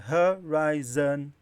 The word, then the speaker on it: horizon: O tracinho veio antes do hovering, porque ha é a sílaba tônica. Aqui veio antes do rai. Então o rai é o forte.